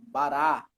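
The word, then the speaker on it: ברא: Uma observação que em hebraico geralmente, a sílaba tônica é a última, conforme o nosso irmão leu aqui na letra A, no primeiro exemplo, bará. Bará.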